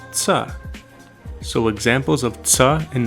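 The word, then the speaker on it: च: Even though we'd write it with CHA, we wouldn't actually pronounce it like cha. Imagine trying to say ta, sa, and cha all at the same time, and you sort of get tsa.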